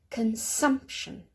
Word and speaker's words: consumption: So here we have a 3 syllable word, consumption. So it's a 3 syllable word, but because it ends in tion, we don't emphasize the first as we did previously, we emphasize the second.